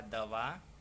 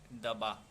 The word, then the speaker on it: दवा: से व है ना, व को भी बहुत लोग ब जैसा बोल देते हैं। लिखा दवा, बोल दिया दबा। वर्तनी यहाँ भी शुद्ध है, उच्चारण यहाँ भी अशुद्ध हो गया।